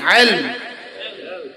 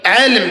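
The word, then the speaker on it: علم: ইলম। 1 নম্বর কি? ইলম। ইলম, আরে আইন লাম মিম, ইলম। বলেন, বাংলা করলে কি? বাংলা বানান করেন না তো, ইলম বানান করেন না। রসই ল ম, বলেন ইলম। বলেন ইলম, আবার বলেন ইলম।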